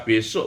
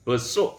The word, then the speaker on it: besuk: Ini kalau ditulis Latin ini bisa besok bacanya ya, besuk ya.